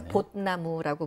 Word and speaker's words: 봇나무: 거기를 북한 말로는 백두산 봇나무, 그러니까 벚나무가 아니라 보의 시옷발음 해가지고 받침해서 봇나무라고 부르거든요.